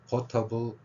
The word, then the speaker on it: portable: 있는이라 한자로 지금 표현했습니다 그래서 포터블 혹은 poble에는 강세가 없습니다 그 무조건 여기 두 개의 음질로 돼 있으니까 포의 강세가 있습니다 그래서러 이렇게 하면 됩니다